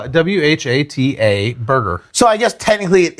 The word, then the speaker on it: Whataburger: Yeah, Whataburger. Okay. But how do you spell it?